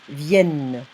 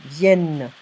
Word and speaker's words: viennent: You're going to see ENT, but if it's on a verb, you're not going to pronounce the ENT. Here it's viennent. Okay? So ENT on verbs, it's E sound, viennent.